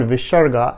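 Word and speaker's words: visarga: in sanskrit is called visharga and pronounced as half h or ah or written as with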